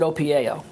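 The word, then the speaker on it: OPIAO: a concept between invented called o p i a o which stands for only positivity in and out or inside and out what is that and how do you practice that well okay I pronounce it opao I even have a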